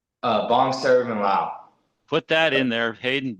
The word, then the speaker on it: Vongsaravanhlao: Vongsaravanhlao. Put that in there, Haidon Vongsarvanhlao Allen, and man, you'll get the Lao community behind you, right, Co? Yeah. There you go. Vong. Was it Vong? VONG? Yeah, Vongsaravanhlao.